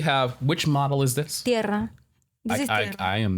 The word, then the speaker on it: Tierra: Tierra. This is tierra. I am not going to be able to say that. How do you say it in English pronunciation? What would the... Terra.